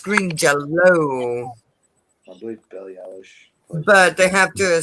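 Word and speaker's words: Green Jellÿ: uher jger yeah he plays for Green it's pronounced green yell belly but they have to spell it green jelly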